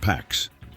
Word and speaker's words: P4X: His code name, P4X, pronounced Pax.